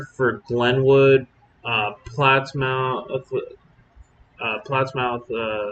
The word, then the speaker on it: Plattsmouth: glenwood uh plattsmouth uh plots mouth uh i think somebody said it was plattsmouth that's how they say it so i don't want